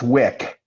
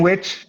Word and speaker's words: Wick: Your last name is pronounced Wick. Like, Yes. So okay. It's German. It's supposed to be Wick, but it's Wick. So Jane Witch, like sandwich, is not correct.